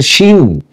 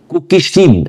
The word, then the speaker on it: চিন: উচ্চারণের একটা বিষয় আছে, অনেকে এটা বলে শিন, কুকি চিন, আবার অনেকে বলে কুকি চিন। আমাদের এখানে কুকি চিনটাই ব্যাপকভাবে প্রচলিত।